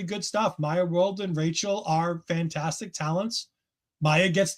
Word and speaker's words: Rachel: I I keep wanting to say Rashelle because I feel like there's a letter missing for Rachel, but they did pronounce Rachel.